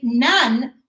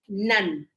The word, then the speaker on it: none: It's not non, It's na, none, none. And that's another thing.